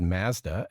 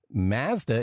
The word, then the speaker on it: Mazda: i noticed you said mazda and that is the mazda is the official canadian pronunciation but elsewhere in the world it's mazda but when you watch